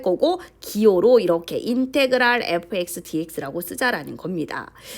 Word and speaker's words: 인테그랄: 요거를 읽을 때는 얘들아 같이 읽어볼까요? 인테그랄이라고 읽습니다. 인테그랄 fx dx 이렇게 읽으면 돼요. 그래서 적을 때 같이 한번 부르면서 적어볼까요? 인테그랄 fx dx 이렇게 적을 거예요.